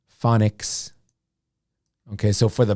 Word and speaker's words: phonics: one for the pronunciation the ph the ph is f sound okay so far fawn nix phonics okay so for the